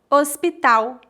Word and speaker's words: hospital: Hospital, hospital, hospital. Lembre-se que o H é completamente mudo no português e que o L tem som de U em final de palavras. Portanto, não dizemos hospital, e sim hospital.